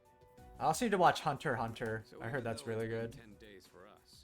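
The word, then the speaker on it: Hunter × Hunter: aband then same ankober I always pronounce it Hunter x Hunter and then people like started making fun of me and telling me that's not how you pronounce it it's Hunter Hunter I was like oh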